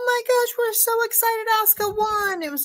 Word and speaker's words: Asuka: That was a good match, Alexa Bliss, and then Ahsoka. I said her name wrong, but I do it all the time.